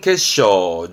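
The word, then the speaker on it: 決勝: 엔 특히 그렇습니다만 그렇죠 아시겠죠 결이네 그럼 결승입니다 발음은 케쇼 케쇼 그렇죠 이건 우승이네 그러 준우승에 유쇼 쇼처럼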